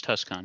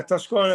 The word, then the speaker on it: TusCon: And if we can help with anything, if your Tucson becomes, I don't know how you pronounce it, TusCon. Tucson. Yeah. The convention is TusCon, yeah. Yeah, TusCon, if the convention comes